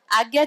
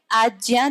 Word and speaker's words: आज्ञा: आज्ञा चक्र नहीं, आज्ञा चक्र। वैसे तो हिंदी में भी आज्ञा ही कहते हैं पर वो शुद्ध उच्चारण नहीं होता, उसको आज्ञा ही कहते हैं। क्योंकि अगर आप उसको तोड़ के लिखे तो ज और य लिखते हैं आप, ग और य नहीं लिखते ना, इसलिए शुद्ध उच्चारण उसका आज्ञा चक्र है।